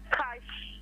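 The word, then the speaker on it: cache: C A C H E. Yeah, cash. Yes, it's cash.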